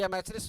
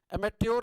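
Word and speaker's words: amateur: एमेट्योर नहीं पढ़ते, अमेचर, चा का उच्चारण लेते हैं, जैसे क्वेश्चन में लेते हैं ना, क्वेश्चन, तो यहाँ च का उच्चारण लेते हैं उसी तरह।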